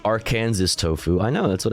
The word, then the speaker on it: Aransas: nice well that's fun it's pronounced aranes tofu I know that's